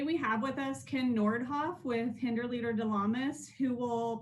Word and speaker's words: Nordhoff: And I said Nord. I'm sorry, it's Nordhoff.